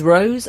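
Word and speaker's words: Roe: to someone he'd say my name is Rose r o e like the flower and his girlfriend used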